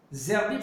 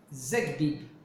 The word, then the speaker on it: Zerbib: Zerbib, c'est pas Zerbib. C'est pas avec un R. C'est un dalet. Non, c'est un Gimel. Hein. Zegbib. Quand tu l'écris Zegbib. Et quand tu le prononces, tu dis Zerbib. Parce qu'il n'y a pas le dagesh. Parce qu'il n'y a pas de dagesh. C'est vrai, il n'y a pas de dagesh.